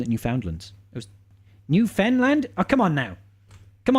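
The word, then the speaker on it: Newfoundland: New Foundland it was new fenland oh come on now come on now Finn fun or Fen what is it you don't really pronounce the last D sha hi honey um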